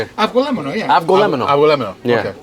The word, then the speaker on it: avgolemono: Avgolemono, yeah.